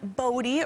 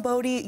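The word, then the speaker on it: Bodhi: Miller's wife, actress Noreen DeWolf, gave birth to their son, Bodie, early on Friday morning in Vancouver.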